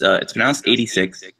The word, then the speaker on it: ADVI: So it's pronounced 86, but it's spelled AD, like Anno Domini, and then VI, like Roman numeral 6.